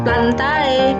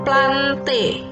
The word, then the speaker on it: plantae: tata cara pembacaan ilmiah Kalau belakangnya Ini api itu dibacanya itu berarti bacanya bukan plantae Tapi bacanya plante kemudian Robert vittek kali